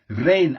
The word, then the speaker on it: reign: Reign as in, for example, a king reigns, or the reign of a monarch, or whatever.